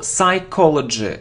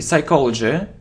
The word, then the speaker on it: psychology: don't pronounce p so psychology psychology we don't pronounce p psychology so it isn't breakfast